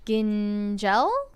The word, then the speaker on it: Gingel: but uh classic Matt gingel let me know if I pronounced that right said oh he said my he said my last name is a hard G like goat then soft G oh I did it